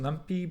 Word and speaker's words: NumPy: there's a package called numpy i've also heard it pronounced numpy but i think it stands for numeric python so numpy i think is the more standard pronunciation and so the numpy